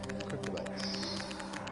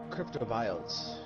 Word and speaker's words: Cryptobiotes: Cryptobiotes. These are called... There's an O in there. Like, instead of Cryptobites, there's an O in between the I and the T.